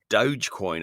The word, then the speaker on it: Dogecoin: a joke but it's not can you explain Dogecoin I hope I'm saying that right you are